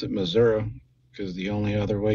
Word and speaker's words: Missouri: actually used to live in Missouri and you pronounce it Missouri because the only other way you can pronounce